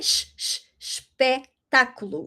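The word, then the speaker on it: espetáculo: So, ooh sh-pec- ta-cu-lo. Okay? Sh-sh-sh-pec-ta-cu-lo.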